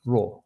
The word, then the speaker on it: 弱: Okay, this is pronounced raw. Raw means weak.